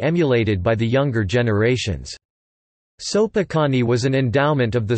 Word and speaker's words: Sopoćani: The Sopoćani Monastery (Serbian Cyrillic: Sopoćani, pronounced Sopoćani), an endowment of King Stefan Uroš I of